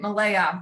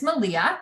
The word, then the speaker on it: Malia: Or our student Malaya, who sold out her online, you guys know, and it's Malia. I said her name wrong. Again, it's Malia.